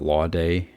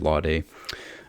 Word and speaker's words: Lawday: I just finished reading Danton, the Giant of the French Revolution by David, I think you pronounce it Lawday, David Lawday.